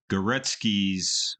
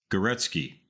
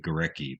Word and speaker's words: Górecki: is called in parentheses goretsky I always pronounced it gorecki but apparently I've mispronounced it looking good old Wikipedia